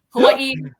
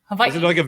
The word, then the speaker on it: Hawaii: say it that way hawaii or hawaii you can say the v that's a very hawaiian thing to do i don't do it because i'm not hawaiian but hawaii is technically how you say it i say hawaii